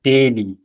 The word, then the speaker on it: Delhi: And the answer is ich gehe nach Indien or nach Delhi, or Delhi, as we would pronounce it in German.